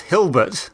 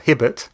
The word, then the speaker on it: Hilbert: That's Hilbert, not Hibbert.